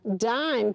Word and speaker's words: dime: I'm, dime. Good. See, the magic E makes the I say I. When I take that away, it says im, dim.